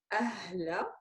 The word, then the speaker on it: أهلا: How do you pronounce it? Ahla.